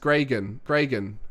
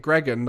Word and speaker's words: Gregan: how do you pronounce my name technically it's pronounced gregan is it Greek no it's gregan what am